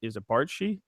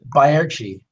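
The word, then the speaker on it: Baertschi: Is it Barchi? Is it Barchi? It's Bayarchi. Okay, Bayarchi.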